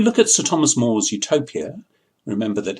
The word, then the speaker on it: utopia: The word utopia, if you spell it u would mean no place. And if you spelled it eu, it means good place. It would sound the same either way.